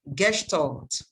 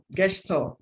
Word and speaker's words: Gestalt: Please mind that pronunciation is Gestalt. It's a German word, Gestalt.